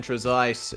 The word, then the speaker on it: Trezise: Ricardo Morganti and Brian Trezise, and that is indeed how his name is pronounced. He told us this afternoon. We've been getting it wrong for so long.